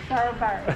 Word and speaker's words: Durbar: How do you pronounce that? Durbar? Durbar.